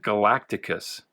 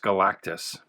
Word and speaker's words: Galactus: For some reason, as a kid, I always added a syllable. I always pronounced it Galacticus, but it's just Galactus.